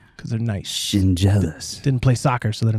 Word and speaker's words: Schendzielos: And you say it like shin and jealous. Like you're jealous of my shins because they're nice. Shinjealous.